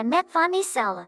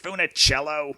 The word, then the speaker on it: Funicello: new photos of a metformicello she was so pretty and taunted hey Maureen what's all this about girls in bikinis and isn't it pronounced Funicello that's corrupted Maureen's innocent